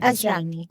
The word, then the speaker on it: Asrani: Asrani is how you say his name, right? Asrani. Yeah.